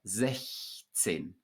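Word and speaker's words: sechzehn: Sechs with a K sound, as I already explained, but 16. So in this word, you do pronounce the CH, the soft CH following the front vowel.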